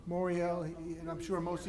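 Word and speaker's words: Morial: Moriel. Moriel, and I'm sure most of you have seen him on things like Meet the Press and other things.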